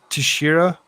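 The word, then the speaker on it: Teixeira: what about Jack uh I actually looked up the last I looked up the last name to actually be able to pronounce it right but it's it's uh Tashira you're accused of involvement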